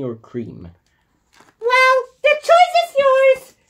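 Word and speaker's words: Creme: Creamy or cream? Well, the choice is yours. It's cream. The E is silent.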